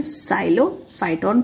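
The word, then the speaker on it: Psilophyton: एक नाम है साइलोफाइटोन, पी साइलेंट रहेगा, साइलोफाइटोन, देन एस्ट्रोजाइलोन।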